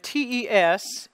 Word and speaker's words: tes: we talked about and usually the S is silent in that word but here again it becomes voiced and becomes the sound and the Y becomes